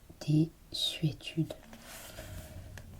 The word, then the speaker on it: désuétude: On doit aussi entendre S et non Z dans désuétude.